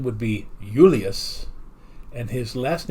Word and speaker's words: Julius: So the actual pronunciation of Julius Caesar, since they didn't actually have a J sound, his first name would be Julius, and his last name would be Kaiser or Kaiser.